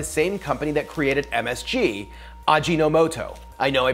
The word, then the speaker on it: Ajinomoto: company that created msg ajinomoto I know I pronounced that wrong in my MSG video thanks for all the corrections I know it's odd gino moto now nucleotide seasoning even